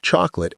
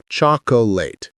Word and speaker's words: chocolate: Think of chocolate as chalk plus lit. Chocolate. The middle vowel evaporates. If you find yourself saying three syllables, you're doing it wrong. Another way to remember, think of the word late. You wouldn't say laate with two syllables. You say late as one syllable. Similarly, chocolate compresses the ending. It's not chocolateate.